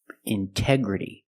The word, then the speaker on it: integrity: release the sound intoxicated Integrity the stress is after the NT in these words so we pronounce a t as a pure T Integrity again pronunciation intense intensive